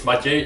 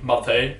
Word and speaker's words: Matěj: Actually, my real name is Matej, just people who don't speak Czech can't pronounce my name correctly, so they all call me Matej.